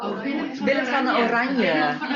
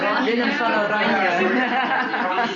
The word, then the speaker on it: Willem van Oranje: Or, Willem van Oranje. Willem van Oranje.